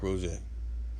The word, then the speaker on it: Roget: dude right here you know that's peter mark rojay you know peter rock rosette you know in english you would pronounce that as what roget rosette but it's